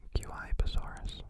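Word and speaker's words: Guaibasaurus: Guibasaurus.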